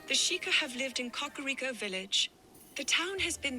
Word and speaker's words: Kakariko: Cockaro. That's how it's pronounced.